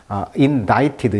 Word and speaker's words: indicted: 그래서 발음을 조심하셔야 돼요. indicted 이렇게 indict가 아닙니다. indicted인데요.